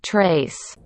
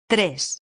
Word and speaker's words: tres: English speaker might read this, trace, but actually it's Tres, when you say tres.